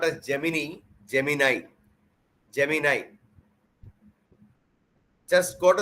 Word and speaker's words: Gemini: Go to Google and type Gemini. It should be pronounced not as Gemini, Gemini.